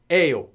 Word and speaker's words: 예요: But actually it is 예요, but pronounced as, always pronounced as 에요.